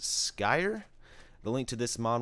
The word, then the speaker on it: Skyr: work in progress and I believe it's pronounced Sky the link to this